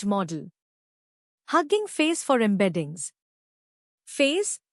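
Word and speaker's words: FAISS: Face, pronounced face, for vector search.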